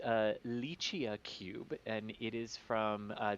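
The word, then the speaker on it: LICIACube: there there is indeed it's uh it is pronounced uh lychee cube and it is from uh the italian space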